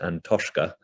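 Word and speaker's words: An Taisce: the irish national trust which i think is pronounced and toshka challenged the decision the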